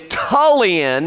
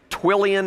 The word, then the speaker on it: Tullian: It's Tullian, not, I don't even know what he, Twillian, I think he said.